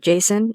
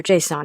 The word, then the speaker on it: JSON: You can pronounce the acronym "Jason" or Jay-sawn, as I do.